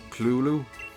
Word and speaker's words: Cthulhu: There's been a Cthulhu, or Cthulhu, as he gets pronounced sometimes.